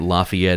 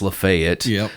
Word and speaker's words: Lafayette: it's uh you know, it's not Lafayette, it's Lefayet. And u we are all aware that it's Lafayette. But the whole reason that it's called Lefayet is because of of basically making fun of someone.